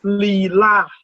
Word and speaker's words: Leelai: The actual pronunciation is Leelai.